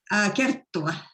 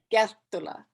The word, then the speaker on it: Kerttula: Kerttula. Kerttula. Yeah. Well, we both mispronounce our names.